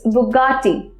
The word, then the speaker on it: Bugatti: to the Hazara mispronounce courtship so it actual pronunciation to watch a bugatti it's bugatti so double piace but after ta butcher on